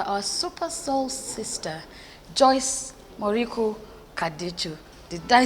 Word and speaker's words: Kaducu: My name is Joyce Kaducu. Our Super Soul sister, Joyce Kaducu.